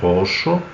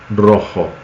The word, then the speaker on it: rojo: de ser por exemplo a palavra roxo em português e a palavra Rojo bem diferente né Rojo Rojo mas Rojo escreve R